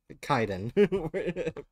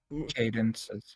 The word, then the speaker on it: Kaiden: for telling me to Kaiden cadences yeah a Nubian it's Kaiden because uh yeah it's